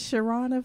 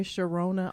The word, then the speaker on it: Charlane: right I appreciate that well it's shiron for me but I hear shirona all the time so I always try